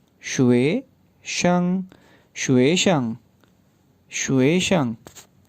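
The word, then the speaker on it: 学生: अब स्टूडेंट की बारी है, स्टूडेंट को किस तरह से प्रोनाउंस करेंगे, सेलेबल्स बना लें। शुए शंग, शुए शंग, शुए शंग, शुए शंग।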